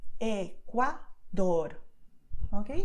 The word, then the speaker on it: Ecuador: So the first sound is very long because your tongue is moving slowly and it's touching your front teeth. But when you pronounce the final letter, the movement is the same but very quick. Ecuador, okay? If you try this, you'll do it correctly, okay?